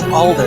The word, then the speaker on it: Alder: the bullet and older is it half no I think his name is Alder that's how they pronounce it Alder but uh me personally